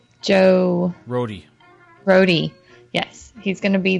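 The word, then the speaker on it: Rohde: Yeah, I'll be there on the 19th, which is also when, how do you pronounce his last name? Joe... Rhodey.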